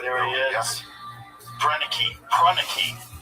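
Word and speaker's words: Proenneke: Pruneke, that's how you say his name.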